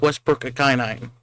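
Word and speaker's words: Westbrook-Ikhine: Yeah, and we signed wide receiver Nick Westbrook Akinine. That's how you pronounce his name.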